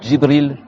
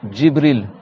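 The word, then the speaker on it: جبريل: Donc c'est pas je, tu dis pas Jibril, c'est Jibril. Le je que t'entends, en fait, c'est pas le bout de la langue qui tape ici. Le je, c'est que, en fait, t'as le milieu de la langue qui monte au milieu de la bouche, c'est bon?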